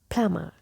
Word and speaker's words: plumber: people pronounce it like plumber plumber and they emphasize this letter but this letter is silent so the correct pronunciation of this word is plama PL and in British